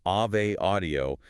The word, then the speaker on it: Ave Audio: v e but pronounced Ave Audio, like the Latin Ave Maria, not like the avenue you drive on.